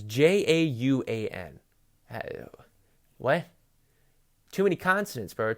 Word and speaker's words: Jauan: Juan. It's Jauan.